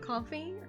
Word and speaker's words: Ko-fi: I almost said Ko-Fi because that's how I pronounce it wrong. Coffee?